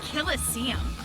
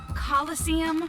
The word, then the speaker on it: coliseum: it right there's no such thing as a killestium what it's pronounced coliseum which is an amphitheater made in ancient rome